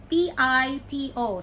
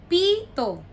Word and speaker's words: pito: three and four p-i-t-o so you pronounce it as the first one Tito Pito Pito meaning whistle and then the second or the fourth one Pito meaning seven number seven so Pito we sell Pito seven and then